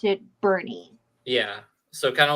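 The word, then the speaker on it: Boerne: I'm seeing is that it's like spelled like born but it's pronounced Bernie oh okay okay so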